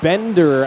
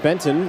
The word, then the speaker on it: Bender: and shoves Aiden a bender out of the way not Benton that was the name I was given last night it is Bender not Benton my apologies to the